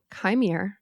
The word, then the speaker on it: Qimir: I think it's interesting his name is Chimere. It's spelled Qimir. Chimere. We pronounce it like that. And it's using the pronunciation Kai, like Kylo, right?